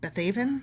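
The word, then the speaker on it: Beth-aven: country and the wilderness of beth bethaven bethevin bethaven yep that one yep from there is that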